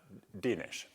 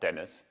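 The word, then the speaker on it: Dénes: at ATA is upstairs he is Hungarian uh denish not Dennis denish and I asked him is it kic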